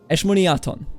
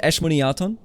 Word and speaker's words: Eshmoniaton: I gotta pronounce my son's name correctly. Eshmoniaton. That's actually a nice name. Honestly, once you like know how to read it, Eshmoniaton.